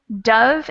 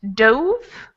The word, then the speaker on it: dove: So the difference between the pronunciation dove and dove, what is it? So we have dove, and dove, O. The vowel sound changes a little bit.